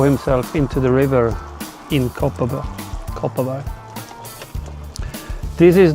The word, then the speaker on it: Kopparberg: Locals pronounce it Kopparberg.